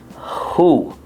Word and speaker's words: who: So, the W is silent in this. And this word is who.